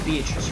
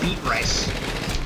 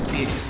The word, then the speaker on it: Beatrice: It is Beatrice, right? I'm not mispronouncing that. It's not like... It's definitely not beet rice.